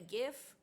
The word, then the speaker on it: GIF: That image playing over and over in your head like a gif. It's pronounced GIF. What? Like the peanut butter. The creator said so.